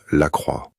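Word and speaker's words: Lacroix: is pronounced Max Lra. Max. The last name ends with a W sound, which is how the letters O and I are pronounced in French.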